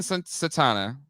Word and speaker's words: Satana: satana but let's let's put a pin in satana right that's how you pronounce it um I love the idea of